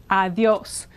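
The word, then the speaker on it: adiós: So this is like a TH, and the stress is here, adios.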